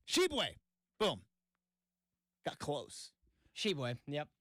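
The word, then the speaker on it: Tshiebwe: Shu uh I'm I I believe the t is silent um absolutely butchering this guy's name this poor guy is just like I I didn't ask for any of this it's uh sheway sheway boom got close sheway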